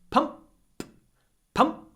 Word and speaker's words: pump: the up dum dum but in pump pump the unvoiced P Clips the M pump pump I need